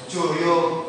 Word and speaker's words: Jayabaya: Kita orang Jawa itu selalu identik dengan nama O bukan A ya. Tulisannya Jayabaya tapi kita bacanya pasti Joyoboyo.